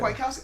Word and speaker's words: Kwiatkoski: Is it Nick Kwiatkoski? Is that how you say it? Yeah. Kwiatkoski.